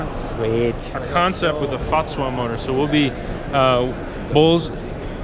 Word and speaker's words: FAZUA: So I mainly, however you pronounce it, just put as much of a German accent on it as you can. FAZUA. FAZUA.